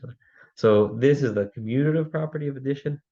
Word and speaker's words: commutative: just mispronounced um is it's not communative right it's commutative the um and the